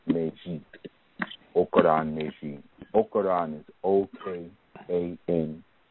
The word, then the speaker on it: Meji: And that particular Odu is Okoran Meji. Okoran Meji. Okoran is O-K-A-N-R-A-N. Okay, Meji is spelled M-E-J-I.